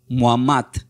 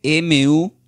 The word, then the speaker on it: Muhammad: Mahoma del árabe se pronuncia como Muhammad, que se escribe M-U-H-A-M-M-A-D.